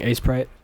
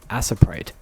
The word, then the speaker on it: Aseprite: so I'll be using aprite or I guess I I don't know everyone says aprite but it's technically spelled like aseprite I don't know weird